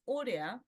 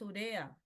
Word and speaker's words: urea: Le decimos palabra grave, no es urea, es urea. Urea.